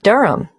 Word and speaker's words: Durham: at one uranga street durham how do you spell durham d-u-r-h-a-m of course i should know that but it's just one of those names that sounds quite different from the way you spell it it is confusing